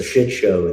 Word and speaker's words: shit show: And what's really cool is that so shit show, the stress is on the first syllable, right?